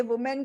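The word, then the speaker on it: women: और इसकी प्रोनाउंसिएशन देखो, वुमेन नहीं, इसकी जो मैं वर्ड डाल रही हूँ इसकी प्रोनाउंसिएशन है विमेन, व को छोटी की मात्रा, म को छोटी की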